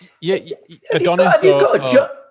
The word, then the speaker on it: Adonis: Is your correct pronunciation? Yeah, Adonis.